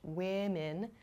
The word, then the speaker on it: women: Women sounds much different than the singular form, woman.